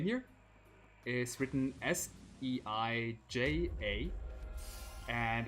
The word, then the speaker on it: Seija: name here is written s e i j a and the Japanese J is like if you romanized something as J then it's uh pronounced J so it's seija kijin